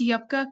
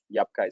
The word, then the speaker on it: Yapa: yeah you are so how you pronounce your name first so so we should get corrected uh sir that's yapa yapa so we are pronouncing it right great um so sir